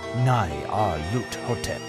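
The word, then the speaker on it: Nyarlathotep: The director of the museum pronounced it as Nai Ar Lut Hotep.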